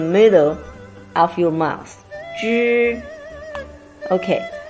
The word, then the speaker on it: zhi: When you want to pronounce zhi, you remember, put your tongue, zhi, the top of your tongue, come close to the top of your gum, and make your tongue curve and stay in the middle of your mouth.